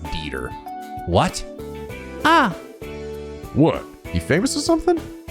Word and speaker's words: Dieter: His name is Dieter Croy. You guys told me that guy's name is not Dieter. His name it's pronounced Dieter.